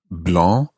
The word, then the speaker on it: blanc: a bit better an h e is added blah becomes blanche that's b-l-e-n-c-h-e blah blah blah blah